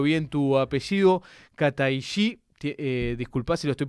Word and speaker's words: Kataishi: con y, corregime, por favor, si pronuncio bien tu apellido. Kataí, disculpa si lo estoy pronunciando mal, ahora te voy a dar para que me corrijas.